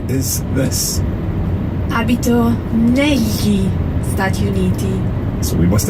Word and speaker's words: negli: So that GL is the same GL that you hear in the word tagliatelle. So it's a very common sound in Italian, but in this word it's pronounced negli. Negli. It's like writing N-E-L-Y-I, if you like.